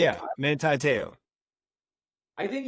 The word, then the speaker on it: Manti Te'o: we had the scandal with the girlfriend of Monte Tao, how do you say his name? Yeah, Manti Te'o.